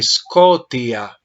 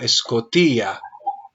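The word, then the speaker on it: σκοτία: en la palabra escota cometiste el mismo error hiciste acento en la omicron dijiste scotia pero el acento Observa que está en la yota scotia lo ves sí padre lo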